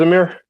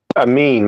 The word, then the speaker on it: Amin: You know what it is, Amir? Uh, no. But let me think. The rarest natural occurring. His name is His name His name is Amin. Not Amir. Amin.